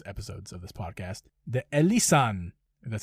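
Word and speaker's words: Elysian: The Elisan, that's how you say it, Space Dust IPA.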